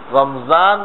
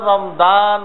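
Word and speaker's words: رمضان: আর একটা অক্ষর হল সাদের পরে গাদ, গাদ উজু বলি না, তা উদু বলি, এখানে তো ছয় গুর কইলাম, রমজান বলি না রমদান বলি, এখানে তো জোয়ার মতো উচ্চারণ করলাম।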